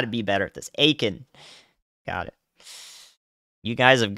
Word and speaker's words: Aiken: guys I've got to be better at this Aiken got it you guys have got you've got to learn how to spell out pronunciations to the best of your ability so